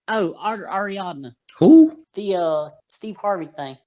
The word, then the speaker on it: Ariadna: Adriana, or let's see how you say it. Ariadna. Ariadna Gutierrez.